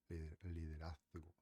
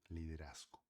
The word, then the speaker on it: liderazgo: da Ah, na Espanha, na Espanha eles costumam falar diferente, tá? Liderazo, eles como que coloca a língua para fora, liderazo, tá? Porém, eh, no resto da América Latina, a gente, eh, a gente pronuncia o Z como S, tá bom?